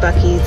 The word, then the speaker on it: Buc-ee's: my keys yes Texas I know it's called Bucky's I was kidding joking